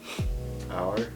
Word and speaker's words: our: Okay, the thing I want to ask you was, how do you say O-U-R? Hour? Hour, right?